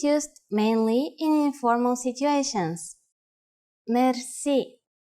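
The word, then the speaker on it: мерси: you will be amazed which word that is merci merci merci is a long word from french but it is pronounced with the typical bulgarian heart r it is used mainly in informal situations merci how do you answer it's easy there are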